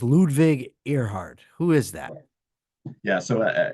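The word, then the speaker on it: Ludwig Erhard: so who was Ludwig I think it's pronounced ludvig earheart who is that yeah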